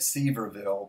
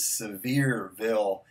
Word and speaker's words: Sevierville: wrong all this time I've been calling it C verville but I was corrected and I believe the correct pronunciation is Sevierville Tennessee so I've got a barbecue sauce from